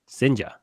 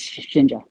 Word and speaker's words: Shinja: I guess how much did you put in for Sinja? Is that how you say it? well, yes, Shinja.